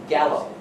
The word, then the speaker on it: Gallo: name one more time gallo Robert Gallo just like the wine all right so this